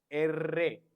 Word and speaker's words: erre: When we are doing the pronunciation, we have to pronounce erre, erre, double R.